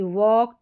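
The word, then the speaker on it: walk: हमारे एल के इसको ऑक करके पढ़ेंगे ऑक पढ़ा जा रहा है एल जो है वो वो साइलेंट है। चलिए स्पेलिंग्स देखें जैसे कि वॉक, टॉक, चॉक, स्टॉक और यहां पर वक।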